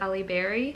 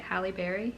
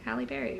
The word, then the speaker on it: Halle Berry: was able to watch the film adaptation with Ali Berry did I say her name right Halle Berry Halle Berry right yeah the trigger warnings for dog abuse